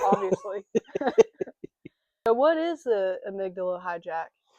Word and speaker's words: amygdala: Today we're going to talk about the amadilla amygdala.